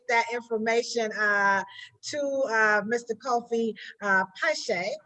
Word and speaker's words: Piesie: Kofi Piesie. Am I saying it right? Piesie, yeah, that's right.